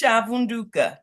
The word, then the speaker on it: Chaunda: well what is it how I pronounce it baby it's chaunda chaunda okay I was it's